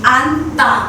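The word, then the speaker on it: 앉: न र ज छ यसलाई हामी आन् भनेर यसरी उच्चारण गर्छौ के न सुरुकोलाई मात्र उच्चारण गरिन्छ ज साइलेन्ट भयो आन् भनेर यसरी उच्चारण गर्नु पर्छ।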